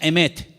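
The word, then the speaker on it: אמת: verdad y la palabra verdad en hebreo se pronuncia emet y vamos a ponerla ahí para que ustedes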